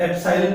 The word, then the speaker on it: epsilon: एप्सिलॉन पढ़ा जाता है, EPSILON स्पेलिंग होती है.